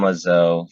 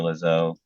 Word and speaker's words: Lezeau: on LinkedIn um Lazo first name is spelled last name l e z e a u please don't call me Dr lizzo um still don't I'm